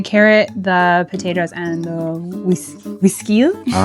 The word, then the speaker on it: güisquil: All right, I need the carrot, the potatoes, and the güisquil. All right, I can do that. How do you say that again? Is that right? Güisquil, yeah. Güisquil? Like whiskey.